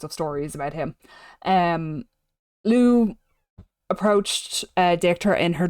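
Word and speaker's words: Lugh: And when I say Lou, I mean it's pronounced like this.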